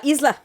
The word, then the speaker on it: Isla: a bunch of things you found on the island. Yes. Sticks. And it's really the third screenshot that made me go, ooh, look at that hat. La isla.